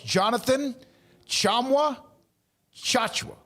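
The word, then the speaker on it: Jonathan Tchamwa Tchatchoua: It's Jonathan Chamwa Chachua.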